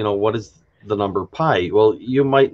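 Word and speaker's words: π: somebody what's the number pi uh you know if if they if they knew what the letter was um of course in greek is pronounced p not you know whole different story there but i mean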